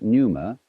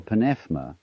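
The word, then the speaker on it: pneuma: that breath is life the Greek word you may pronounce it Numa or panma is the same as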